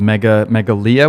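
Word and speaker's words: Meghalaya: Is called Megalia, we decided. Yeah, that's how you say it. Yeah. Megalia, and that's a state in the northeastern part of India.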